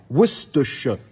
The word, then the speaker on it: Worcestershire: Je prends l'exemple d'un comté en Angleterre, Worcestershire. Worcestershire. Donc en fait, j'ai trois syllabes qui sont pratiquement les mêmes.